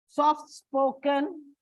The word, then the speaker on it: soft-spoken: Short-sighted, it's on the second syllable. Soft-spoken.